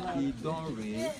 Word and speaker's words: Idanre: And the correct pronunciation of this community is Idanre, not Idanre.